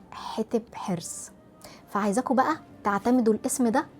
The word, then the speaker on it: حتب حرس: يعني مثلا النهاردة أنا طول الفيديو هكون بقول حتب حرص، هي اسمها الصح حتب حرص، فعايزاكم بقى تعتمدوا الاسم ده طول الفيديو.